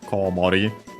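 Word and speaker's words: コウモリ: Oh, actually, I don't think I mentioned the accent of Komori. Accent on the first Mora.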